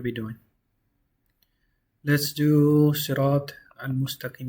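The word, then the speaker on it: المستقيم: If you're starting from Hamzatul Wasla, you read it as a Hamza. So it's Al right here. Al-Mustaqim. The lam is pronounced 100% because the meme doesn't have a Shaddah. So this is a moon letter.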